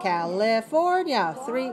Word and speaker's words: California: California. 4-3. California. 4 syllables. Stress the third.